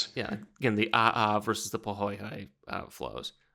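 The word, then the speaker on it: ʻaʻā: Again, the aha versus the poai uh flows. Exactly. I hope that pronounced that correctly. Aha is pretty easy to get cuz it's just aa but I'm not sure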